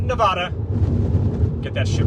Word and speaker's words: Nevada: I heard a lot of Nevadas on this trip, and I had to correct them. It's Nevada. It is not Nevada.